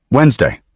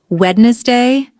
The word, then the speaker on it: Wednesday: Wednesday. Go ahead. Say it. Did you say Wed-nes-day? That's a very common mistake. The natural pronunciation is Wednesday. The D is silent.